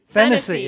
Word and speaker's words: Finisi: And Charles Finisi, which may or may not be the pronunciation of his name, but that's what I'm going with. Is that true, Larry? Finisi, okay. Thank you. Now I know.